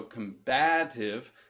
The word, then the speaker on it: combative: battle right and so combative syllable stress shift as it changes to an adjective and it means very